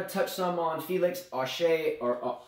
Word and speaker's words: Auger: touch some on Felix Auger, or Auger. It depends on, I guess I've heard it pronounced a couple different ways, but Auger Elysium is what I come to gather is correct. So it's Auger.